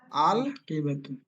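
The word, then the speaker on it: الْحَقِيبَةُ: উচ্চারণ কি হবে? আল হাকিব আল হাকিবাতু হাকিবাত হাকিবাতু আল আচ্ছা হাকিবাতু আচ্ছা, এখন বলেন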